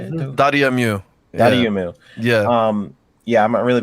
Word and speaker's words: Dotemu: Dotemu.